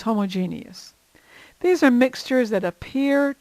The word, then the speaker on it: homogeneous: Homogeneous mixtures, sometimes called homogeneous, but I believe the more common pronunciation is homogeneous.